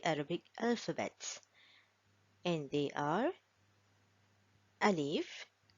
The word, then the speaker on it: ا: Now, Alif is pronounced from the lower part of the throat here. Alif, Alif, Alif.